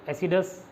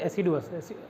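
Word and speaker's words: assiduous: एसिडस, एसिडुअस, इसको pronounce करते हैं एसिडुअस, अच्छा एसिडुअस, एसिडुअस क्या था ये तो बताओ, मेहनत, ठीक है।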